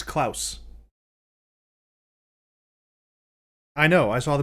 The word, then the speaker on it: Klaus: we can and yes are you sure it's not pronounced claws it's klaus i know i saw